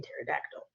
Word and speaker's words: pterodactyl: And then the empty letters don't sound like anything at all, like the K in me or the P in pterodactyl.